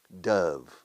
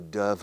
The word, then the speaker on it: dove: Dove. Paloma de la paz. The dove of peace. Dove. Escrito dove. Dove como love. Amar. Love. Dove.